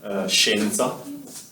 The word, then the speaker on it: scienza: And when they're followed either by an I or an E, you pronounce them sh. So she, she. For example, we have the word scienza, which you have to